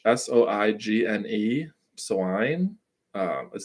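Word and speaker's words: soigné: uh the next word I believe is also French s-o-i-g-n-e swine um it says possessing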